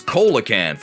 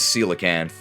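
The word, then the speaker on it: coelacanth: she said that the real life fish is pronounced cican I thought it was kakan like the rock well it turns out I was wrong because it absolutely is cican but in a sense we were both wrong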